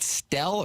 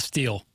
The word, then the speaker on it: Stell: country music star Jackson do you pronounce it Matt stelle or steel uh Matt steel okay and St Louis's own